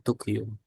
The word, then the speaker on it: طوكيو: Ana Aidun min Tukyu.